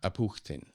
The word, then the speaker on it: Apukhtin: Oh, how do you pronounce his name? Apukhtin. Apukhtin.